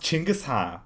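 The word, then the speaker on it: Чингис: his name is pronounced chingusa you know with a CH for some reason in English they write it down as Genghis Khan with a G but it's pronounced as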